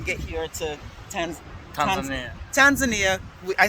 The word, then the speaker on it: Tanzania: here to attend congressman tanzania i said it that way because there's a couple of ways to say it tanzania yeah that's the way the locals say it so i'm trying to